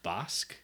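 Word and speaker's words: Bäsk: don't speak Swedish, is Bask. Yes. B-A umlaut S-K. Perfect. But you can also call it Besk, because Bask is just an older way of spelling Besk. B-E-S-K.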